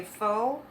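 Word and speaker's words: faux: then i realized that f-a-u-x meaning fake in french even though we say foe if you pronounce it like english it would be fox right did anyone ever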